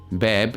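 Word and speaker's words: باب: if you look at this word which is pronounced as beb bab which means door in Arabic now if you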